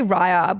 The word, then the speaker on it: Raya: Americans say Raya, we say Raya.